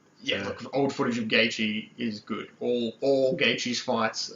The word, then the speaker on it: Gaethje: Gaethje. It's spelled pretty weird, man. Yeah. It's like These fighters, man, I tell you. Yeah, it's Gaethje.